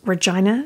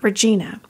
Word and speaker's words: Regina: I completely confess that the only reason I pronounce Regina Saskatchewan correctly and not Regina is because long ago and far away on this podcast when I first mentioned Regina I called it Regina and I immediately got an email from a